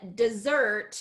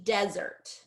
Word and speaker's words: desert: And then dessert, you would stress the second syllable, but this is actually desert, first syllable. Okay. So it's a dry De- climate, the okay.